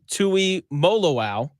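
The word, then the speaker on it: Tuimoloau: But I'm really excited about JT Tui Molo.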